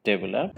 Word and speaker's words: develop: Stress on the first syllable, but actually it should be on the second syllable. It is develop. Am I correct, Saji? Yeah, you're correct. You're correct. So this is not develop, this is develop.